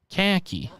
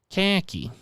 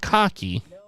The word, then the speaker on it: khaki: khaki so all right what is the correct pronunciation in my i've i have been taking the task repeatedly on this particular khaki right khaki khaki not cocky no no no no